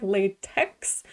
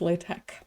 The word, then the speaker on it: LaTeX: language it's spelled like latex but technically the x character is supposed to be the greek letter chi so it's pronounced like a k so it's latex so latex is a